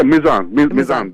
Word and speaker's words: Mizan: Miriam, brother Mizan, have I pronounced your name correctly? Because I know you as Mizan the poet. Yeah, Mizan, that's okay.